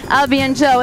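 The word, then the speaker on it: à bientôt: name of his boat which is actually French I'll be and Joe it means see you later 20 seconds left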